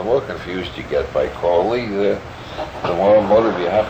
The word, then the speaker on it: Crowley: My name is Aleister Crowley, because that I am holy. My enemies say Crowley and wish to treat me foully. So now you'll never forget how to pronounce it. It's Crowley. Crowley.